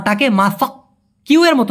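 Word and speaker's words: masak: এই দুইটার ক্ষেত্রে মালয়েশিয়ান ভাষায় মাসা বলা হয়ে থাকে। কি বলে? মাসা। এই ক টাকে মাসাক। কিউ এর মত না উচ্চারণ করে ডাইরেক্ট ক এরকম না বলে ওরা এই ক টাকে অনেস্বরের মত উচ্চারণ করে।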